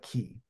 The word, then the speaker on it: Ki: But the album I'm going to go for is, I pronounce it Kai, but I know a lot of people call it Key.